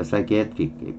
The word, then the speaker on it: psychiatric: 여기 강세가 있죠. IC를 끝나니까 전에 강세가 나니까 psychiatric. 피는 발음 안될 거고요.